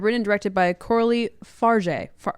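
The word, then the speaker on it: Fargeat: Yeah, written and directed by Coralie Farja. Farja. Oh my gosh. Good job. I coached Cam on pronouncing this name for 30 minutes before this, and now I'm second guessing everything.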